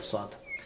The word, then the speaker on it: ص: In this verse, the letter of Sad. The letter of Sad pronounced from tip of the tongue, passing sound through top and bottom from two teeth.